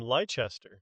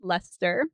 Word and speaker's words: Leicester: But in England, there's a place called Leicester, and it's spelled Leicester.